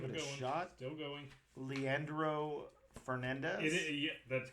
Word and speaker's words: Leandro Fernandez: Leandro Fernandez.